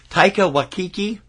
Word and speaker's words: Taika Waititi: Best adapted screenplay to Taika Waititi for Jojo Rabbit.